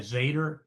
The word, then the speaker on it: Zeta: How do you How do you spell that? Is that Z Z A D E R? The company's name? Yeah, Zeta.